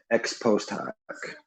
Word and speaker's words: ex post hoc: I don't want to butcher the order. Ex post hoc.